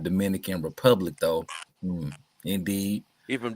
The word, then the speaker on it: Dominica: I'm from Dominica, not Dominican Republic, though. Indeed. He from Dominica. No, for real. It's Dominica.